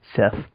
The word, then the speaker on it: Set: he's also the god Seth. Set, yeah. Set. Well, some people pronounce it Seth for some reason. Which is stupid.